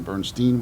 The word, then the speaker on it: Bernstein: And in keeping with our educational bent, no one in our area will ever mispronounce Leonard Bernstein again because you can't Ryan Bernstein with 99.